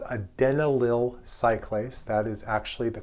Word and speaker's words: adenylyl cyclase: Nearby the G protein is a membrane embedded enzyme, not a receptor, but an enzyme that's called adenylyl cyclase. That is actually the correct pronunciation.